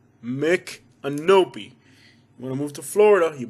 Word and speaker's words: Micanopy: another native american name the right pronunciation is mick anopi makenobe not micah nappy or snoopy noppy canopy or canopy or mc canopy mick and opie say with me children mick and nobi wanna move to florida